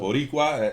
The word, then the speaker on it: Boricua: Boricua, is that how you say it?